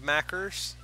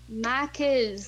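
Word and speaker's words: Macca's: You don't wanna have macers? Mac is. There's no ER. It's a fucking A. Mackers. What the fuck is that? Let's all go to macers. Mac is.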